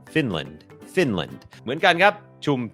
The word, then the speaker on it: Finland: คอร์ส ฝึก ออก เสียง ฟินแลนด์ อ่าน ว่า finland finland โอเค อัน นี้ บ่ง บอก ว่า จำ ได้ ม อัน นี้ ก็ เน้น พยางค์ ขึ้น สูง Fin Fin Fin พยาง ไม่ เน้น L finland finland เหมือน กัน ครับ